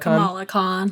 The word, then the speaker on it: Kamala Khan: do you say named Ken Lacan or Comelec Kamala Khan Kamala Khan Miss Marvel she is the sixth